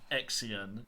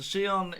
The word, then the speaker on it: Xion: And yes, that is the correct way of pronouncing it. I've heard people butcher that name. Exion. No. So Xion is given a Keyblade by stealing Sora's memories from Roxas.